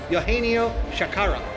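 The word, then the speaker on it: Eugenio Chacarra: Oh, actually, I have this pronunciation correct. Eugenio Shakara.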